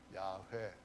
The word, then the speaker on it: 야훼: 그래서 좀 정확하게 발음을 달리 한다면은 야훼 이렇게 말할 수가 있는데요. 야훼 하나님께서 기록하신 영원한 기록이 있습니다.